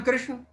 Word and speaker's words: कृष्ण: कृष्णा हमने आगे किस सारी पीढ़ी में कृष्ण को कृष्णा कर दिया है कि इस पर विचार नहीं हुआ श्री कृष्ण हमारे जीवन का उच्चारण होना चाहिए तो इसको गर्म है